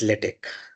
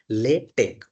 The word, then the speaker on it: LaTeX: So first of all what is Latte? So it is a type setting system that incorporate a micro pro microprocessor. So basically it is pronounced as latte or latte.